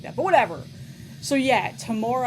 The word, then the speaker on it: Temora: So, yeah, Tamora, I believe is how you say that name.